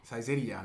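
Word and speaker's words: Saizeriya: Saizeria, ¿no? Así es como se pronuncia.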